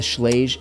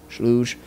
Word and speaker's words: Schlage: I tell people that, what I use is the Schlage encode. I think that's how you say it, Schlage, Schlooge, whatever.